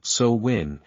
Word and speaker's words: Samhain: sa a gelic word pronounced sowin is a pagan religious Festival originating from an